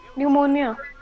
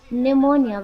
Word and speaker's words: pneumonia: the second one pneumonia pneumonia very good uh although it is uh starts from the letter P but there p is silent and this word p is silent and the correct pronunciation is pneumonia second is paraphrase